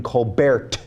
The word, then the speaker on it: Colbert: to be Steven coar I think his name is pronounced Steven Colbert according to rush Lim but